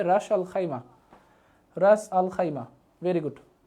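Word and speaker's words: Ras al-Khaimah: আমি খাইমা লিখে দিলাম এটা উচ্চারণটা হবে রাস আল খাইমা রাস আল খাইমা ভেরি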